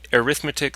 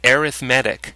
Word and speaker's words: arithmetic: This is, you're probably saying to yourself, arithmetic sequences. No, this is actually pronounced arithmetic sequences. Weird, eh? Arithmetic sequences.